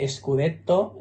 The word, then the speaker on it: scudetto: Scudetto, que ellos dicen Scudetto y al soneto lo llaman sonetto. Ellos escriben tanto Scudetto como soneto con dos T's y pronuncian una T en cada sílaba.